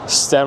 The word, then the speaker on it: STEM: STEM rhymes with phlegm.